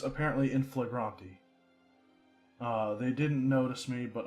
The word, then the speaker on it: in flagranti: up how this word is supposed to be pronounced because I wasn't sure the last time. It's apparently in flagranti.